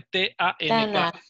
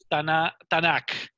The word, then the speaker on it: Tanaj: leer y decía Tanaj, esa es la manera en la que se pronuncia, se escribe T-A-N-A-J. Tanaj, pero se pronuncia el AKH, es como j, hace un sonido de j, ¿ok? Por eso se lee Tanaj.